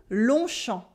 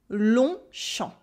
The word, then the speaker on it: Longchamp: The G and the P is silent in each of those words. And when the words are mashed together to form a noun, we keep their pronunciation.